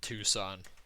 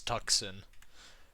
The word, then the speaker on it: Tucson: Oh, that's just Chandler and then Mesa and then Tucson, which as a kid I always pronounced Tucson as Tuxen. Um, I was pretty surprised when I found out it's not pronounced Tuxen. Funny story.